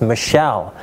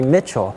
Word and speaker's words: Michell: I need to clarify my last name is Michelle but in prison and often many times people mispronounce it and call me Mitchell well I didn't want